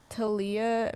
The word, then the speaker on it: Taliyah: talia because that's the it's the hebrew spelling and in hebrew it's pronounced taliyah talia's the greek um